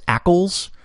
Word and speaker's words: ACL: refer to them as akles well they're just pronouncing the acronym there so keep that in